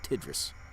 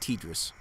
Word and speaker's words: TDRS: or tdrs i'm sorry i keep calling it tidris tidris tidris yeah no it's pronounced tdrs they have a mock-up